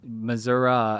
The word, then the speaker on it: Missouri: from a national perspective Missoura as a pronunciation was the majority form in places like Iowa and Nebraska as well as in places like Arkansas and More Southern States so it's kind of